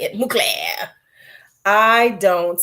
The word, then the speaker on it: Mugler: Mugler.